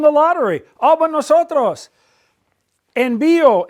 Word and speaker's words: envío: Envío, envías, envía, envían, all have an accent on the I.